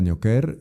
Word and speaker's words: Neocare: Sí, me pueden encontrar en Clínica Neoker, eh, se escribe Neocare, está ahí en calle del patrocinio número 111.